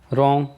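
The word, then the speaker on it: wrong: रॉन्ग, इसमें W silent है, हमने W का यूज किया है, इसका मतलब होता है गलत।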